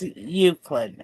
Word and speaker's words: Euclid: It's pronounced Euclid, and I know that because I understand the English language.